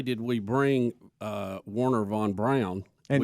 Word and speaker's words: Braun: Not only did we bring Werner von Braun, and explain why you're saying Brown and not Braun, because that's his name.